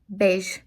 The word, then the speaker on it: beige: So just a slight difference at the end, but basically the same thing because EI in Italian already sounds like a long A.